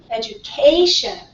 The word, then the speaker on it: education: okay yeah all right so what is the strongest syllable there C education right this is the strong one so this one we